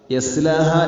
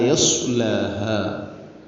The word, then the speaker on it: يصلاها: لا يصلاها ഇവിടെ സ്വാദാണ്. യസ്ലാഹ എന്ന് പറയരുത്, അത് അർത്ഥം മാറും. ലാ യസ്ലാഹ സ്വാദാണ്.